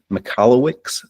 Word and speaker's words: Michalowicz: It's Mike Michalowicz, I believe it's pronounced.